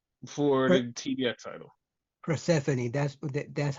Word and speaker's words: Persephone: Persephone, that's how you pronounce it.